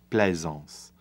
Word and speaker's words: plaisance: If this was French, plaisance. And so you would actually have that S sound at the end of plaisance in French, but then it wouldn't rhyme with pansement.